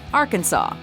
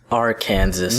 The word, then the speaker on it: Arkansas: 10 pronunciation is key Arkansas Kansas AR Kansas no it's Arkansas in Arkansas that's right Arkansas it really doesn't do to skip the silent s although it's probably the